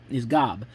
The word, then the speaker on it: Gob: Michael's oldest brother is George Oscar Bluth II, played by Will Arnett, known by his initials Gob, which is pronounced in the series like the big biblical figure Job.